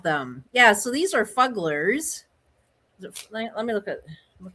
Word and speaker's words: Fuggler: Yeah, so these are fugglers. Let me look at look at something. Fuggler, yes, it's fuggler. I said it wrong. I'm new to it. Fuggly. I thought it was fuggly. They're fugglers.